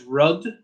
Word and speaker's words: rud: U is a similar to how you might expect it to be pronounced in English, like words like put. So this word here is rud, rud.